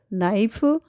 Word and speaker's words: knife: Have you ever wondered why we write knife with a K but pronounce it knife, or why doubt has a V but we say doubt?